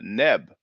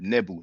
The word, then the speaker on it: Nebu: The W is pronounced U, and we talked about that. You know, the word Nubia ultimately derives from Neb or Nebu, which means gold. Not Neb, Nebu.